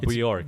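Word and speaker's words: Björk: You don't say the J. Bjork.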